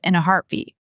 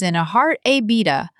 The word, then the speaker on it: in a heartbeat: Three words, but they flow together quickly. It sounds almost like in the heartbeat. The T at the end of heartbeat is often a soft stop. Don't over pronounce it as in a heart a beta. Keep it smooth.